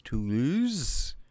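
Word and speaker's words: Toulouse: pronounce it lords honestly two laws two those two on two it's not too long it's to lose now whatever caracassone caracassone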